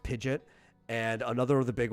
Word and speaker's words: Pidgeot: one of them uh pidet which everybody says Pidgeot and the the anime does that as well um but it's pronounced pidet and another of the big ones is guidos